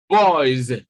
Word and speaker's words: boys: And so when S comes after this vowel sound, automatically it is pronounced Z, boys.